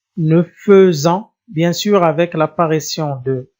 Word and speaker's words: nous faisons: Attention, je prononce E, nous faisons, bien sûr avec l'apparition de S.